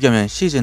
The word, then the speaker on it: SHHis: SHHis 라고 쓰든 한국어로 " 시제 " 라고 발음 하든 같은 부대 를 가리키므로 어떻게 발음 하든 상관 없습니다 .